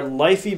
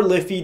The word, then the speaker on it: LiFe: battery pack and lastly our lifey battery pack or liffey depending on how you wish to pronounce it let's first kick